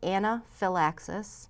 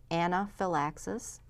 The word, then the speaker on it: anaphylaxis: serious allergic reaction and it's called Anna Phil axis I sorta phonetically spelled it for you there anaphylaxis what it is is